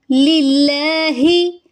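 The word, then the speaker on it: لِلَّهِ: लिल्लाहे नहीं पढ़ेंगे, पढ़ेंगे लिल्लाही।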